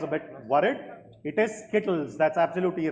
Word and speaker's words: Skittles: SK what did you say skit can you spell it correctly SK k i TT i s l l s that's correct Skittles is the right answer you said kitties so